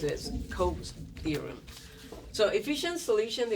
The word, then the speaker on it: Coase: The theorem we just look at, it's pronounced as Coase theorem.